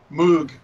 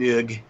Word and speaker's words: Moog: And still, it's funny because Brits can't pronounce the name. No, they cannot. You know, it's Moog, and Moog.